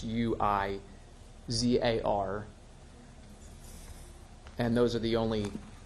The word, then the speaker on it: Huizar: matter is Elias, and I believe the last name is pronounced Huizar, and I stand willing to be corrected if anybody wants to correct me on that. I believe it's Huizar. It's Huizar, and those are the